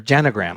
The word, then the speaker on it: genogram: I did my own genogram, and so or genogram. I just realized I've been pronouncing it wrong all of these years, and it is, I looked it up. Genogram is the preferred one.